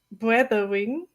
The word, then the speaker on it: Brathering: Every person in the US or in the UK will read brathering. Brathering. Okay. Brathering. Uh-huh. But it's in German, it's the word Brathering. Really? Say it again. Brathering. Bra. So you roll your R?